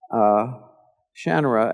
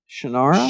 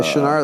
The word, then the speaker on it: Shannara: I noticed they were saying the word Shannara as Shannara? Shannara. The Shannara. Oh, that's it. Yeah, oh my God. And I said, well, that's not how you say it. It's Shannara. And they said, well, who says it that way?